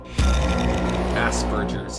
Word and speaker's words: Asperger's: Asperger's, yeah, that's how it's supposed to be pronounced.